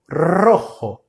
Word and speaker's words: rojo: Então você vai sempre falar assim: R, com a língua tocando os dentes superiores muito rapidamente. R ro rro. Rojo.